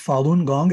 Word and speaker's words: Falun Gong: internet so it's pretty it's spelled well it's pronounced falun gong it's spelled f as in frank a a-l-u-n one word and gong g-o-n-g just okay go and look at falun gong they've been tremendously suppressed in china but more